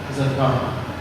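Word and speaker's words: زكاة: ഇത് സക്കവാത്തല്ല, സക്കാത്ത് അങ്ങനെയാണോ? സക്കാത്ത്.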